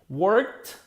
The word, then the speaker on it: worked: Worked, the letter K is produced in our mouth. We can feel the air crashing to our finger. Work. Therefore, the correct pronunciation is a T.